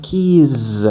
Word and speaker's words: keys: But you have to pronounce keys with the Z sound. That is the plural of a key.